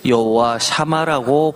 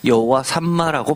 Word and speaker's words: 여호와 삼마: 개혁 계정에서 여호와삼마라고 했고 표준세 보은 여호와 샤마라고 했는데 히브리어 글자를 보면 중첩점 이중점이라고 하는 가운데 점이 하나 찍혀져 있습니다. 그래서 두 번 발음했기 때문 여호와 삼마라고 발음하는게 맞습니다.